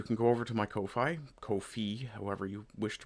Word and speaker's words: Ko-fi: go over to my Kofi, Kofi, however you wish to pronounce it. Apparently, it's supposed to be pronounced coffee, but uh I like